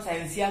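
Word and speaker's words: scientia: Okay, तो ये English alphabet में हम साइंसिया को लिखे हैं. एक्चुअली लैटिन अल्फाबेट में क्या रहता है, ओके, वो तो हमें अभी नहीं मालूम, पर वहां पे जो उसका प्रोनाउंसिएशन होता है, that is साइंसिया. Okay, so इट हैज a literal meaning also.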